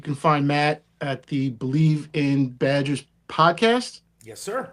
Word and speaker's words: Bleav: It's weird Yeah. because it sounds like believe and you'd spell it like that, but it's not spelled that way.